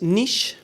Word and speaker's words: Niche: ¿Lo pronunciáis nich? Nietz. En inglés es nich. Claro. Nich. Ah, en nich. Nietzsche hemos oído de todo. La si si lo pronunciamos correctamente es nich mobility.